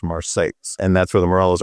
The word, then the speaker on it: Marseilles: Marseilles, Illinois, it's spelled exactly like Marseille, France, but it's in central Illinois, so it's pronounced Marseilles.